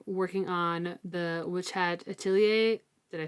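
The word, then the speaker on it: Atelier: um I've been working on the witch hat atier did I say it right you did y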